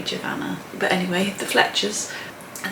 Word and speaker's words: Giovanna: giovanna and tom fletcher i think it's giovanna because i'm sure i once saw her on instagram that she said that her name rhymes with savannah so that would be jovanna but anyway the fletchers